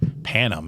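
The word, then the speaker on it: Panem: Panam. How do you spell it?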